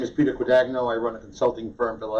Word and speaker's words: Guadagno: Guadagno. Guadagno. Is the American pronunciation. If we were in Italy, you'd say Guadagno. Guadagno, so. And you'd spell it with a G, not a Q.